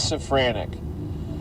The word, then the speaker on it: Sophranic: I double checked on the sophranic pronunciation and it is sophanic.